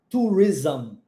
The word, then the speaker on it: tourism: Quando você vê esse ISM no final, o som vai ser ism. Ism. Com esse som de Z mesmo, tá? Ism. Tourism.